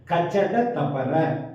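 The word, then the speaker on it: கசடதபற: கசட தபரன்னு சில பேர் சொல்றாங்க. அப்படி சொல்லக்கூடாது. கச்சட தபர அப்படின்னு வன்மையான ஒளி உடையது. அதனால வல்லினமா அழுத்தி நம்ம உச்சரிக்குது.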